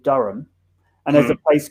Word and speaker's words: Durham: so you will get americans saying durham instead of durham because it has an h in and you will get